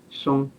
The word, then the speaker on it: Song: So, but in Chinese it's pronounced Song.